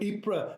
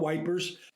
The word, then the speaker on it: Ypres: You know, Ypres, fine, I got that. It's not wipers.